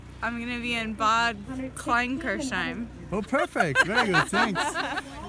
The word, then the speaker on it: Bad Kleinkirchheim: Can you pronounce that, please? Next year you're going to be in? Bad Kleinkirchheim. Perfect, thanks. Okay, you're going to be next year in? Bad Kleinkirchheim.